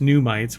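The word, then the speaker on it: NUMTs: So it's pronounced pneumites, which makes me think of Star Trek brain bugs, which leads me back to Picard.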